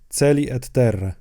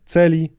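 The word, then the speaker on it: caeli: przypomnę po raz kolejny mówiłem w poprzednich odcinkach że łaciński a czytamy jako jedną głoskę e w polskiej wymowie łaciny i mamy to tutaj w dwóch słowach celi Terre na końcu również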